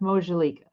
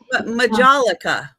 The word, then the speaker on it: Majolica: What's the word you're saying? Mojalika? Is that how you say it? Majolica. Majolica. Oh, Majolica.